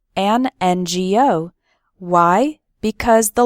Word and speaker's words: NGO: then we say an NGO why because the the letter N starts with the vowel sound e n n Go o number three do